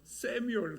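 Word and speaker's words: Samuel: 사무엘 영어로 세미얼 그러거든요.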